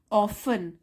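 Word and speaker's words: often: ही ऑफन ऑफन इसमें T silent होता है।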